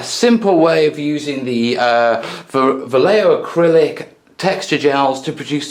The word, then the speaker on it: Vallejo: Yeah, in the meantime, I'm going to say it right, Vallejo Acrylics water features set.